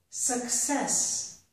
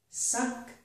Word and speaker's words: success: Here's another example. Success. Suck-cess. So the first C makes a k, the second C makes a s. Success.